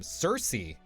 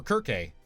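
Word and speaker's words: Circe: his sons born from Cersei or Kirk depending on how you say it actually uh came to Ithaca and slew Odysius there.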